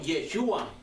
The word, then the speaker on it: Yeshua: Y por último, Yeshua. Se escribe Y-E-S-H-U-A.